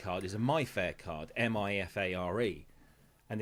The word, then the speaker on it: MIFARE: And the other, because their more basic card is a MyFair card, MIFARE, and it pronounces it like Nigella Lawson. It goes Mifare.